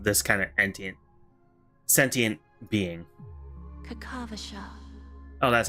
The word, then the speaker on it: Kakavasha: Kakavasha. Oh, that's how you pronounce it. Kakavasha.